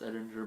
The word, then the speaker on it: Edinger: edinger add an editor that one edinger pronounced edinger by his say so um they're all fantastic